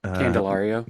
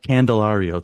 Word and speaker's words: Candelario: Jaime Candelario. Candelario, thank you. Yeah. I remember seeing that and thinking, I rarely get the inspiration to, write a question. I'm like, Rio, I could write a question. Candelario, I could write a question about the Rio